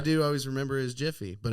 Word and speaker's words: Jif: Jiffy? It's Jif.